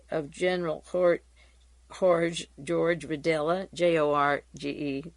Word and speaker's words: Jorge: General Court George wadella j-o-r-g-e the J is silent Jorge vidella and the